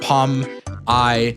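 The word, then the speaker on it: Pomni: Pomi Pom, not like Pom I N E, like Pomi.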